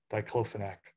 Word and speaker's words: diclofenac: They have a problem with a veterinary drug called diclofenac, or other people pronounce it differently, diclofenac.